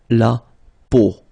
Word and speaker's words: peau: But then, so the sound that you will have to pronounce when you've got these three vowels combined together, it's the sound O.